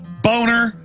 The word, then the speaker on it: Boehner: well you know he the name is German it's a nice name it's pronounced boner and he his whole life he even had ad campaign saying it's Boehner not boner hey if your if